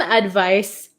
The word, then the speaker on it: advice: it's so tricky right advice has an S sound but it's spelled with a c advise has a z sound but spelled with an s h why is English